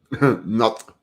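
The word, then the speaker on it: Knut: Not. The K is silent in Danish.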